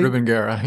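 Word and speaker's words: Rubengera: Rubengara, yes.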